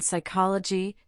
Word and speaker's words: psychology: In words derived from Greek, the initial P in the diraph PS is silent as in psychology, pterodactyl and pneumatic.